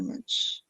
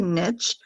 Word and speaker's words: niche: um what is your niche i think it's a niche but i've i've also heard it said i've heard also heard niche that's become same niche is becoming more popular like yeah what do